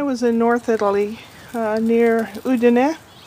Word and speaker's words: Udine: When I was in North Italy, near Udine, and most Americans call it Udine, because that's the way it's spelled, up in the Dolomiti,